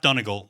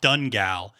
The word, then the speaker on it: Donegal: pennsylvania turnpike there's an exit for donegal it's pronounced donegal over here the first time i saw it i was like 10 years old and i pronounced it dungal and my dad thought that was the funniest